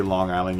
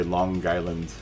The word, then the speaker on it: Long Island: And when you say Long Island, you have to say Long Island. You have to pronounce the G as part of the island part. So you say Long Island.